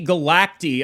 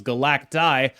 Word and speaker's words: Galacti: Perhaps the weirdest card in the season is the last one, Zombie Galacti. Apparently, that's how you pronounce it. I would have thought it was Galactus.